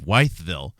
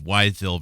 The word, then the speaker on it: Wytheville: This is a December 9th, interesting date, 2020 article about how the polio epidemic of 1950 gave Wytheville, and that's spelled W-Y-T-H-E-V-I-L-L-E, Wytheville, Virginia, a summer without children.